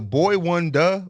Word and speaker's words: Boi-1da: pronounce this man's name is a Boy Wonder boi-1da like does anyone know how to say his name is Boy Wonder Boy Wonder Boy Wonder okay that makes sense yeah like like Boy